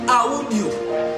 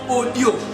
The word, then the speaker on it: audio: présent, les latinistes disent audio. Parce qu'en latin, tous les mots se prononcent. Mais en français, nous disons audio.